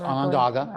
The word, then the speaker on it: Onondaga: Did I pronounce that correctly? Yes, Onondaga. Okay. Onondaga.